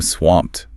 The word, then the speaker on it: swamped: The video suggests I'm swamped. I love that one. It's very visual, isn't it? Like being buried in work. The video also notes the soft t sound at the end.